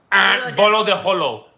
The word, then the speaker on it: Bolo de Rolo: Bolo de Rolo. Bolo de Holo. Got it. R's are H's.